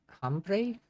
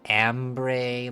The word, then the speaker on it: hombre: Hombre is pronounced with an O sound. Yeah. Was it ambre, like an A sound, maybe?